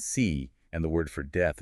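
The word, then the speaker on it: 四: In Mandarin Chinese, the word for four is pronounced si and the word for death is pronounced si.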